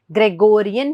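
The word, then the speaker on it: Gregorian: सो वी do have a calendar over here जिसका नाम है थोड़ा ऊट पटांग, बट इट इज टू be pronounced as ग्रेगोरियन calendar.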